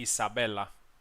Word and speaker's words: Isabella: correct pronunciation would be Isabella so not with the Z but with an s and yatzik is uh